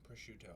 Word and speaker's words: prosciutto: Prosciutto. Yeah. I've never actually learned how to pronounce it until now.